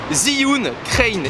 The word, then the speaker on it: Zhiyun Crane: encore on l'a reçu il est tout nouveau zyun crin il se prononce ainsi c'est un accessoire qui coûte quand